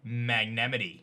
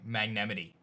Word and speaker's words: Magnemite: Or as I like to say, Magnemity. Seriously, that's how you pronounce Magnemite. Magnemity.